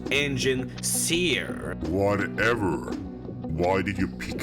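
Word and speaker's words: Enginseer: You told me she was your engineer. It's pronounced engine seer.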